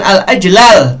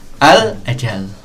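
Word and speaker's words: الأجلّ: Wal qiyas ya, dan berdasarkan qiyas atau berdasarkan ilmu sorof, seharusnya membacanya itu bukan al-ajlal, tapi apa? Al-ajal gitu. Ya, jadi bukan al-ajlal, tapi al-ajal. Al-ajalli gitu.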